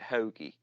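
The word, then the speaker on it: Hogue: you pronounce that one hogi you actually pronounce it hogi hogi yeah and this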